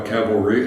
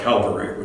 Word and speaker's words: cavalry: By the way, I think the word cavalry must be the most mispronounced word in the whole English language. So many times it comes out Calvary, which I bite my tongue to keep from correcting people.